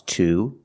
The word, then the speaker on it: to: we have a consonant in this case we pronounce 2 as 2. because we cannot say ta we have to say 2 to link the sound to the schwa to with a consonant